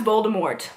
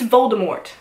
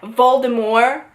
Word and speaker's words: Voldemort: just gonna move on the way they pronounce Voldemort I don't give a if you wanted to pronounce it in the French way JK Rowling okay but it's Voldemort it's always been pronounced Voldemort whenever they said Baltimore I wanted to cry because I'm like